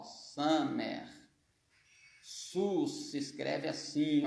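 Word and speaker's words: סוס: Se pronuncia sus, mas não é com Shin, não é com essa aqui, ó, de Shua, não. É com essa aqui, ó, Samer, ó, Samer. Sus se escreve assim, ó.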